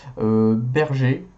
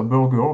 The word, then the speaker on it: Berger: Nosler, Hornady, Lapoix, Sierra, Berger. Aux États-Unis, ils appellent ça burger, mais nous, on dit plutôt berger dans le coin. Mais bon, vous choisissez la prononciation qui vous plaît.